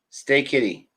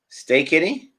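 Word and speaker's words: Steketee: in the test squad stay kitty stay kitty that's how you say his name stay kitty doesn't stick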